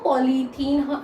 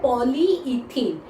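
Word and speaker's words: polyethene: जो पॉलीथीन जो मतलब हम लोग प्लास्टिक की थैली यूज करते हैं उसको हम लोग पॉलीथीन पॉलीथीन पॉलीथीन कहते हैं, लेकिन असल में वो प्रोनाउंस होता है पॉलीइथीन।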